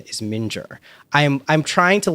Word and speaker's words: Mingyur: I am 99.9% sure the correct pronunciation is Mingyur.